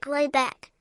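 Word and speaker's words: Råbäck: The manor house, or herrgård, in question is to be called Raback, pronounced something like Robeck, though that is not its name.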